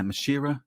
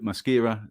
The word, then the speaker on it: Maschera: this pronunciation all right la mashira de sierra is that right the first is a k the sex is a c right brilliant because that's